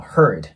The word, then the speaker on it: heard: いう感じですね次の heard なんですけどこれ注意が必要ですここね Hard ていう感じでを大きく開けて発音してしまうとあの大変だとかていう時の HARD になってしまうんですねなのでずっと R の音を出すイメージで